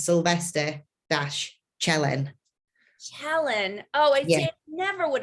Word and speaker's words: Cielen: my name when he competes because nobody can pronounce his name so basically it's sylvester chellen helen oh you never would have guessed i